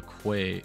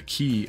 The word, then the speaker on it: quay: want to put a Quay or a key sorry I just pronounced it wrong again um a key along the river here